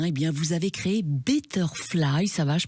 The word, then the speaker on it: betterfly: et en 1 et bien vous avez créé betterfly ça va je prononce bien le mot de votre société parfaitement bien la transition écologique betterfly mieux voler c'est parfait et oui alors c'est